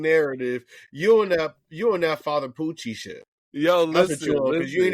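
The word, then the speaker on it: Pucci: First of all, is that nigga named Poochie?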